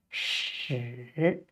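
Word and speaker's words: 豕: And originally, it is written like this and is pronounced 屎.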